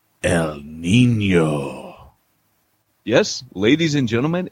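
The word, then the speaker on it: El Niño: the midst of a hurricane like El Nino El Nino you gotta say it like that Oh mean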